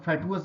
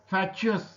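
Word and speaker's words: fatuous: चलिए अगला शब्द देखते हैं, अगला शब्द है फैचस। फैचस इसका उच्चारण है, कुछ लोग फैटुअस भी बोल सकते हैं, लेकिन फैचुअस सही उच्चारण है, आप इसको देख सकते हैं।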